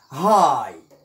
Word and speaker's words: high: نأخذ مثال عندما لا ننطق بهذا GH، بهذين الحرفين GH، عندما يكونان صامتين silent. example night الليل، high مرتفع أو عالي، neighbor الجار.